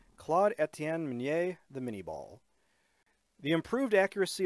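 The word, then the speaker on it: Minié ball: that bears his name, although in English we pronounce the projectile miniball.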